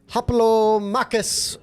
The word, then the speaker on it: Hoplomachus: And today we are going to do a review of Haplo Makus Remastered. That's exactly how you say it. And I'm confident pronunciation.